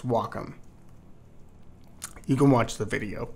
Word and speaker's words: Wacom: add some text to pronounce Wacom not wcom not whack it's Wacom you can watch the